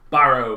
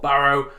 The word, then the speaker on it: Barrow: So we're going to be starting off with my local team, Barrow, or Barrow as it is pronounced correctly where I'm from.